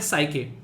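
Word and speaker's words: Psyche: NASA का एक particular mission है जिसका मिशन का नाम है साइके। पी यहाँ पर साइलेंट है, ये मिशन जो है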